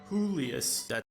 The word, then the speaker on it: Julius: Or, my bad, I guess now I should use the Spanish pronunciation. WHOlius. It's not, no, it's not even who's Julius though.